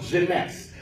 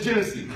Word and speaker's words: Jeunesse: come and look at Jeunesse. You know why? Because first of all, I couldn't pronounce it. I called it Genesee.